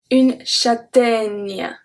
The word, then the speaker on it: châtaigne: The first one we're gonna see today is une châtaigne. Can you hear the E at the end? Une châtaigne. Nya. Nya. Does that make sense?